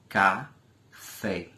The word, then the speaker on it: café: proparoxítonas certo por exemplo a palavra café café duas sílabas cá café Observe que fé O que é uma sílaba forte em relação a cá portanto a sílaba tônica da palavra café é a sílaba fé certo então a palavra